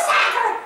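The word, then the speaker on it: Sachar: Louis Sacher! Rhymes with cracker!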